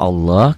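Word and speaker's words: الله: bacaan Quran kita pelajari ini lafaz Allahnya dibaca tebal Kenapa Allah karena sebelum lafaz Allah baris di atas tuh nyambung jadi semuanya makanya saya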